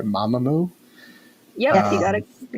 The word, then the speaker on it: Mamamoo: is number nine is uh i'm hoping i'm pronouncing this right mamamoo yeah you got it you got it right